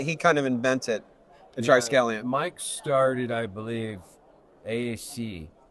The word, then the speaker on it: triskelion: It is triskelion-based baffle. Triskelion. Can you say triskelion? Triskelion. Can you say triskelion? Triskelion. Anyone can say It took me fucking like a year to pronounce it. Just you will. It's a short bus me, right? It's not the T word. I can't. It's triskelion. You can't say it.